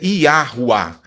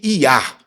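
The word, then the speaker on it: Yahweh: O nome do Senhor em a pronúncia em português é Iahuá ou simplesmente iar.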